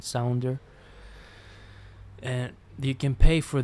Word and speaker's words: Sounder: the platform that's called sounder so you pronounce sound and then you put an er in the end sounder and you can pay